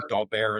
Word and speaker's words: Daubert: You probably heard of the Daubert ruling, or Daubert, it's pronounced, the French term.